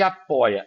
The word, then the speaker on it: apoia: Apoi, ó, apoi. Você percebe que você fala oi, entendeu? É a forte, ela é a penúltima, ela é o quê? Uma paroxítona, tá? Quando você tem a penúltima sílaba forte, ela é paroxítona.